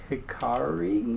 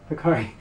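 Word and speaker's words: Hikarie: So we are probably going to head over to the Shibuya Hikari.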